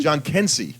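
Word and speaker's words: Jhonkensy: How do you pronounce his name? John Kensey.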